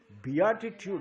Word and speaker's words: beatitude: Beatitude, not beatitude. Oh, beat it is pronounced as beat it only.